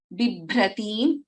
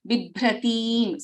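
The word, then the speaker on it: बिभ्रतीं: Raktotpalam, Bibhratim, Bha is a Mahaprana. Bibhratim, so there is a Dirgha here and also ending with an Anuswara.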